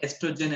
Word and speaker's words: estrogen: And ovaries produce hormones, two hormones called estrogen and progesterone. And here the O is silent. Like in esophagus also, O is silent. So it's just estrogen and progesterone.